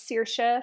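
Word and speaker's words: Saoirse: pretty yeah no yeah so this story follows CA Fagan um so if you're familiar with Hollywood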